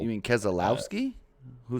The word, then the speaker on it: Keselowski: need saying that he's a good feeling that Kowalski is gonna take over 48 next season cool name Kowalski I don't know I might have pronounced it wrong k s e l o l you mean Keselowski who said that where yeah that ain't happening